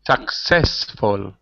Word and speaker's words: successful: for me successful repeat successful unsuccessful unsuccessful very good so the stress the syllabus the stress is on the first syllable in unsuccessful but it's on the second syllable in successful successful that's it very